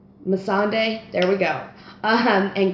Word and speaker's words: Melisandre: name you know I'm talking about it's not Melisandre Mossad day there we go uh-huh and grey worm saying